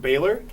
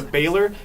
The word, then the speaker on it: Baylor: We got Washington State and Baylor. George Washington has been dead for so long. So long. It doesn't even matter. But Baylor here rhymes with Taylor.